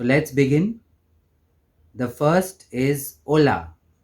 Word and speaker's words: hola: The first is hola. Remember, in Espanol, the H is silent.